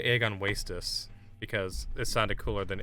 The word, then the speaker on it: Agon Wastes: I remember when I used to say egg on wastess because it sounded cooler than egg on wastess, but uh it's egg on waste, not wastess.